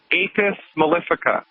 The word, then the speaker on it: Apis mellifica: Foods and pick up a homeopathic medicine called Apis mellifica. You spell that A like apple, P like Peter, I like India, S like Sam.